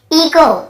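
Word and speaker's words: echo: इको, इको, यहाँ पर भी एच, ईचो नहीं पढ़ेंगे, सी एच को चा पढ़ते थे, ईचो नहीं, इको ही पढ़ेंगे, क्योंकि रूल यही बोल रहा है, ओ के पहले यदि एच है तो हमें एच को नहीं पढ़ना है, ठीक है, एच साइलेंट रहता है।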